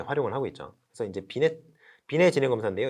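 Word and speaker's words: Binet: 그래서 이제 비례 지능 검사인데요. 이게 T가 묵음이죠. 이제 프랑스어라서.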